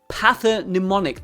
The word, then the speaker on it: pathognomonic: Pathonnemonic.